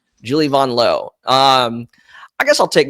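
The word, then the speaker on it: Vanloo: laughs at it but no like it's not vanl it's actually vanon L which is actually very easy to pronounce right instead of V an it's b o n and then like instead of Lou it's low like L right so right Julie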